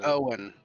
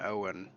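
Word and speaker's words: Eoin: And we had his name's Owen, but it's spelled like E O I N. Owen.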